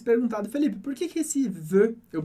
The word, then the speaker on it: veux: E talvez você tenha se perguntado, Felipe, por que esse veux eu pronuncio como e? É parecido com je, eu não falo x do final. O x do final, como regra geral, a gente não lê, assim como S, assim